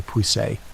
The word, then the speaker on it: Puiset: Enter Bishop Hugh de Puiset, pronounced Pudsey by the locals, because French names don't survive long in the north.